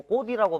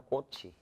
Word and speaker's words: 꽃이: 자연스럽게 연어 현상이 먼저 이걸 대표홈 디귿으로 바꿔 가지고 꼬디라고 발음하면 절대 안 된다는 거지 어디가 아니라 꼬치 음가가 없으니까 요놈 현상이